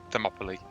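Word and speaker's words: Thermopylae: Yeah, you you have the battle of Samopoly. How is it pronounced? Themopoly.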